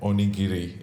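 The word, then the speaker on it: onigiri: name the food and oniri is is that how it's pronounced yes yeah yeah very good yeah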